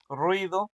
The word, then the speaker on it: ruido: Entonces, la siguiente ruido ruido va a tener dos sílabas, ¿no? Y la ru es la más fuerte, o sea, que va a ser grave también.